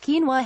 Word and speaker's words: quinoa: used in place of rice the whole grain pronounced quinoa has now been recognized by the United Nations